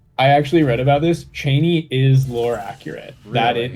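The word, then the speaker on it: Chani: Cheney is lore accurate. That it like like uh Frank Herbert specifically said it's pronounced Cheney.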